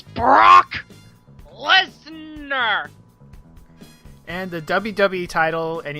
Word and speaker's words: Brock Lesnar: ago and he wants he not saying it correctly it's Brock Lesnar and the WWE title